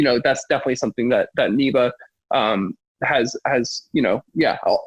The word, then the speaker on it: NIVA: to everybody over at I'm gonna say it correctly this time neva instead of an OVA yeah thank you everybody